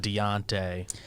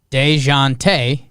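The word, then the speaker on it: Dejounte: like accepted but so paul said i learned to pronounce dejante's name by saying de jonte fast you get a sort of z sound at the start of the second syllable dejante i think like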